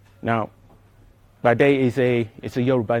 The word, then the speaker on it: Padé: new software project called Padé. Now, Padé is a Yoruba name, and when you pronounce P in the Yoruba language, it has to sound explosively.